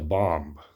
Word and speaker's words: bombe: did this by creating a machine called the bomb, BOMBE as it is spelled.